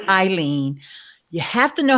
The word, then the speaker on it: Ileane: do if you know my name is pronounced Aileen you have to know